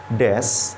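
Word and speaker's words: です: dalam huruf Hiragana sementara Des adalah bentuk positif yang bisa digunakan untuk membuat sebuah ucapan menjadi lebih formal dan sopan Hai lafal huruf u pada Desa biasanya tidak diucapkan atau di Suarakan Hai sedangkan huruf wa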